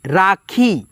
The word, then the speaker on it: राखी: उसके बाद से राखी है, राखी, राखी, तो यहाँ पे उच्चारण खींच करके है तो RA से रा, KHEE से खी, राखी।